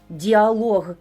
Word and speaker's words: діалог: Діалог і каталог мають наголос на лог.